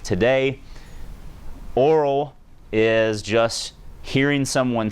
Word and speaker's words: aural: You pronounce this Aural and Kinesthetic, and obviously that's visual.